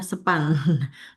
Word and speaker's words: SP4N: Itu punya platform media penyampaian keluhan juga, ada SKM, Survei Kepuasan Masyarakat, ada SP4N Lapor, biasanya kita nyebutnya SPAN, membacanya ya, SPAN Lapor.